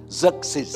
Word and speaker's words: Xerxes: dominion of the Persian Empire ruled by King Xerxes. Okay, you have to correct, you have to pronounce it right, okay? It sounds like a name, you know, in an anime game, all right? Xerxes, okay?